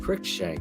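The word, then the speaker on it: Cruikshank: new bear safety Dane crook shank cric shank how do we say his name yeah he's yeah CRI shank yeah cric shank he's your he's your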